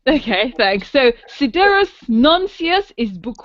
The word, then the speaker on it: Sidereus Nuncius: tell me how to pronounce it if I pronounce it incorrectly. So your book is called Sidereus Nuncius? Sidereus Nuncius, yes, and that is Latin for starry messenger.